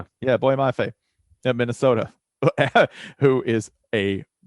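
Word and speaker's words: Boye Mafe: Is that how you pronounce his name? Boy Mafe? Yeah, Boy Mafe at Minnesota, who is a monster.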